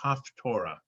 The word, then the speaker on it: Haftorah: The topic is, and I'm going to pronounce this in Ashkenazi Hebrew, is Haftorah. In Sephardi Hebrew, it would be Haftarah.